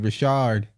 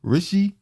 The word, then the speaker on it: Rishi: Don't call him what Biden did, Rashard. No, it's Rishi or Rashi Sunak.